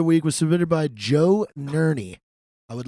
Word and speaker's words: Ner: week's drinking brother week was submitted by Joe Nery I would like to nominate my father for